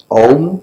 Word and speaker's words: Om: SkyDome in a completely different way mike says ohm which is divided into 3 syllables of ah-hoo and the first syllable the